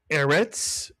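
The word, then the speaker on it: ארץ: Here's the word eritz. Mitsuyan. Eret begins with a seigle and therefore the accent is on the first syllable. E eritz.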